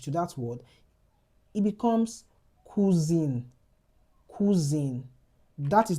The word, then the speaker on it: cousin: You have the word cousin. Cousin. That's nasalized. Now, look at when we had E to the E in the English to that word, it becomes cousine.